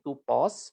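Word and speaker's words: τύπος: Ini bahasa Yunani, tupos, bacanya begini.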